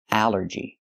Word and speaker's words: allergy: But here it makes the a sound. The short a like in apple and black. A allergy. It's three syllables. Allergy. The stress is only the first syllable.